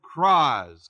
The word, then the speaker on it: kraz: Aramaic it's that word "kraz," K-R-A-Z, kraz. Kraz, I guess you pronounce it. There's a schwa in there.